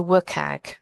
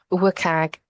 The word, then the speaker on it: WCAG: by the w3c and also work KAG the other way that some people pronounce it I I do wag um wag tends to be a